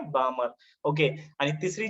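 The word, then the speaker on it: Balmer: यस, लक्षामध्ये ब्राह्मण नाही, बामर.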